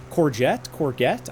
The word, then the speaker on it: courgette: Is it soft G or hard G? Courgette? Courgette? Or courgette? I feel like it's a soft G. Yeah, no, that's all good. Hey, there it is. Read like French. Okay, so yeah, soft. Like a courgette.